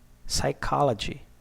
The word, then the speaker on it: psychology: Pneumonia, psychology, T in a T way, Christmas, castle, k, knife, no, knock, okay?